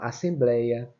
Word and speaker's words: assembleia: Blei é que é a sílaba forte. É a penúltima sílaba.